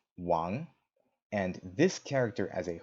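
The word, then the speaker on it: 王: that's interesting is that in Chinese the king by itself is pronounced Wong and this character as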